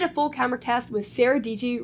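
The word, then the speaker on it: Sara Dietschy: I made a full camera test with Sarah DG, rhymes with Peachy, so you should go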